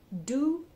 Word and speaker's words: du: a beast an animal do d double O by b u y